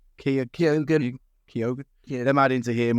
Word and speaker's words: Keoghan: Well, how do you pronounce his name? Keoghan.